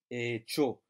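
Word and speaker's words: ekyo: sound, as in church, echo. So don't be tempted to pronounce it as a kyo. But just remember that kyo gives you that ch sound, as in church or choose.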